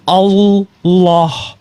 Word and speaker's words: Allah: alah a l Ah tapi kalau double l itu ada penekanan sama seperti double s dalam bahasa Inggris itu bacanya prepositions jadi z karena double s sama dengan double l itu jadi Allah l-nya dua jadi ada penekanan Nah kalau ibu mau